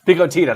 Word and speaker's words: Pico Tita: Pico Tita, that's the right way to say it.